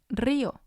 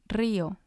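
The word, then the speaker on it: río: be on the eye another example is rio rio which means river and again it has two syllables because the eye has the accent and the last example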